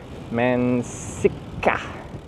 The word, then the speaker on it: mansikka: Longer K. Mansikka. How do you do a longer K? There's a louder K. Mansikka.